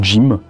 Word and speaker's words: GM: 79 donc dit gm enfin ça se prononce jim et c'est un kit